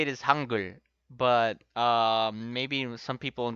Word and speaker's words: 한글: Well, the right way to say it is Hangul, but maybe some people when they read this firsthand is Hangul.